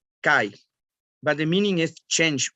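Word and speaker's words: 改: in japanese the first kanji we call we pronunce kai but the meaning is change of continuity the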